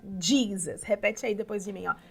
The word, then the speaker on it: Jesus: dele então divisas é Jesus em inglês se pronuncia jeans repete aí depois de